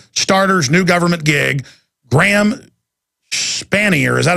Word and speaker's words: Spanier: Is that how you pronounce it? S-P-A-N-I-E-R.